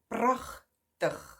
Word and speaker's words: prachtig: And then bottom right corner, we have prachtig, prachtig, prachtig, if you say it faster, which means beautiful.